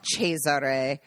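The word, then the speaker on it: Cesare: we just call and the name is cheser which is Caesar Italians know it they recognize it immediately there's no further questions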